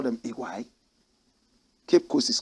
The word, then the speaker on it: Oguaa: OGUAA. They say Iguai, correct pronunciation, Iguai, but we say OGUAA. Correct pronunciation, Iguai. Some people say OGUAA.